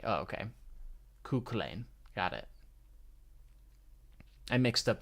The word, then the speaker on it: Cú Chulainn: That's with the letter Q is chi, is how you say it. But the letter C would be like sounding like the letter K. Oh, okay. Cú Chulainn.